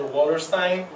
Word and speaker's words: Wallerstein: Wallerstein. And they told me to pronounce it like Einstein, so I remembered it.